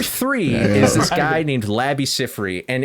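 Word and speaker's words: Labi Siffre: i FF r e i could be pronouncing his name completely wrong and I apologize I'm pretty sure it's Labby Cy though everybody knows him from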